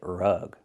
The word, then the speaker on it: rug: Use the short uh sound like cup and up. R-rug, not rag, but rug.